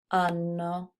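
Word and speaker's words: hanno: m and one more with the silent h Loro ano okay so just to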